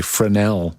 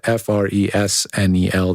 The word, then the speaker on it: Fresnel: those are fresnel lenses it's spelled f-r-e-s-n-e-l the s is silent but they make a